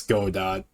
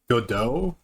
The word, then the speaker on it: Godot: Godot is a free and fully open source game engine that I pronounced this Godot when I first saw it. Good to know that it's actually called Godot?